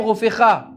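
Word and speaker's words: רופאך: Il se prononce avec un P souple, alors qu'il guérira, Vérapé, on parle du médecin, faisant allusion donc au médecin, et prononcé avec un P sévère.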